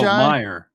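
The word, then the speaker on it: Meiji: Mei ji me oh Meer Meer Meer no m e i j i Meer yeah I'm pretty sure it's Meer R oh me ji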